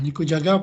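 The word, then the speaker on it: 肉じゃが: artinya daging goyang kalau Iya nyi kujaga ah nikujaga Paling itu enggak nikujaga pokoknya ini bacanya nih kok gak ada yang lagi jagain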